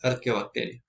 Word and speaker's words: Archaeobacteria: Se escribe Archaeobacteria, pero como las especies están escritas, la H se pronuncia como una K, es Archaeobacteria.